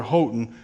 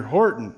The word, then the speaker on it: Horton: name before you know to me in American it says Peter hoton but really uh he corrected me in a nice way his name is Peter Horton is how they say or pronounce that over there in England so there you go